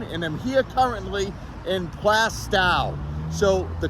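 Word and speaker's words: Plaistow: the correct way to say this is not plasto who would say plasto no one wants the plast a toe anyone want a plast a toe no my toes are fine plastow that's the correct way to say it here in New Hampshire here's another very famous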